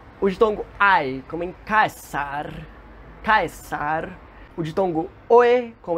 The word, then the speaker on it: Caesar: in "portus" (harbour), /k/ as in "CIcero" or Caesar, yes, that's how these names were pronunced, it was represented by the letter "cee", "ca", "ce", "ci", "co", cu" always.